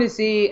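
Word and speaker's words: Tisci: collection I don't even know how do you pronounce his last name because Tess ISA Ricardo to see so did you see that is it am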